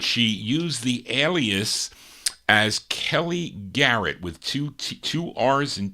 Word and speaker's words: Kelly Garrett: Kelly Garrett on the Ava record label. That's how you pronounce it.